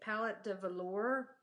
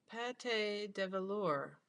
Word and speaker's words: Pate de Velour: how you say it, Palette de Velour, 100% superwash. Pate? Oh, not palette. Pate. Let me show you this because it's a little easier to read. Pate de velour.